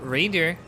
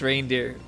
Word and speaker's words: Randir: And Randir. By the way, Trout. it's not pronounced reindeer.